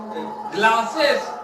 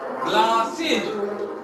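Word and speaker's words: glasses: की बात छोड़ दो, वो बोलते हैं सेस, क्लासेस, ठीक है, डांसेस, ये होता ही नहीं है, ग्लासेस, ये होता ही नहीं है। यहाँ क्या बोलना है, इज, ग्लासेज, बस, बसीज, ये सही प्रोनाउंसिएशन है, ठीक है।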